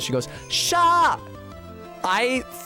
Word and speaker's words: Shah: me, but it's because to most Americans, those would be pronounced identically. Shaw. It's just that I have an aw, so that's why it's Shaw versus Shah to me.